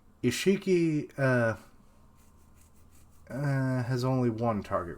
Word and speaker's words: Isshiki: Oh, I had his name wrong all along. It's Isshiki.